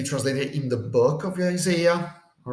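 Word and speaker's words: Ἠσαΐας: So to indicate that this is not really a diphthong, that's why you put the diaeresis there, to say that this, you don't have to pronounce it as Isaiah, but Isaiah. All right, the accent is on the yod, Isaiah.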